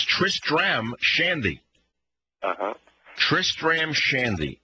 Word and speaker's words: Tristram Shandy: right right I mean what you want to say is Tristan's shanty but that's not how it's pronounced it's Tristram Shandy uh-huh Tristram Shandy it's